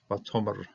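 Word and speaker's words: וַתֹּאמֶר: Okay, Vatomer, feminine prefix, the verb, very well known verb, accenting. It is a little bit of a milra accenting. So you got Vatomer, and she said, Lach to her.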